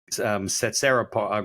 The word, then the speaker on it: Tsetserra: So if people want to learn more about you, I think Setsera Growth Partners has a website, right?